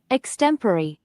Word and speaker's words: extempore: Extempore. And if you use it to pronounce it, extempore, it'll actually improve the score.